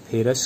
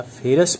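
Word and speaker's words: ferrous: Iron 2 वाले को फेरस कहेंगे, अस लास्ट में अस आ रहा है 2 वाला, और 3 वाला को फेरिक कहेंगे, लास्ट में इक आएगा, फेरिक।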